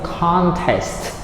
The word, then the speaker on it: contest: Okay, the next word is contest. So the stress is on the first syllable, right?